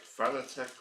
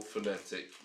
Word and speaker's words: Fanatec: whichever pronunciation you like fanatec or phonetic whichever pronunciation you like I'm not going